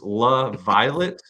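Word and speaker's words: LaViolette: La purplish because it's La Violet um so Violet's kind of purplish but it's pronounced la laviolet la sounds like a hockey player yeah it sounds like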